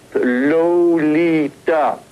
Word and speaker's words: Lolita: 3 on the teeth, Lolita. Now comes the rush. Note, by the way, that the first syllable of her name sounds more like an R sound than the O sound.